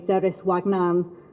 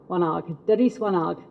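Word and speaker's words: Deris Wanaag: than the Somali phrase, Deris Wagnan, I'm going to pronounce that wrong, aren't I? Wanag, Deris Wanag. I'm looking at the lady in the middle who's like, not that, yes, no, that.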